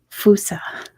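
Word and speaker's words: fossa: monkey not a raccoon not a dog the fusa which is a bizarre looking animal it's spelled that way it's spelled f-o-s-s-a it's pronounced fusa hey kitten he is awake the Foos says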